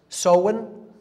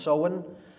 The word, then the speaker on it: Samhain: season in the mid midpoint of fall is soin pronounced so and it looks like Samhain in English but it's pronounced soin in Gaelic and that is Halloween or hollow